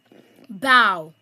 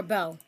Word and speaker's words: bow: Bow or bow. Bow. Bow. Bow. A noun that means two loops made from knots. Jane's present to her mom had a beautiful red bow on it. Bow. a verb that means to bend at the waist.